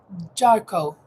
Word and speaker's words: Jarko: You actually pronounce my last name Jarko.